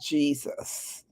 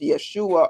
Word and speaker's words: Jesus: But in the English language, his name is pronounced Jesus. Okay, so maybe in another Hebrew or whatever the other language, maybe it's pronounced Yeshua or whatever. But when it's translated into English, it's pronounced Jesus.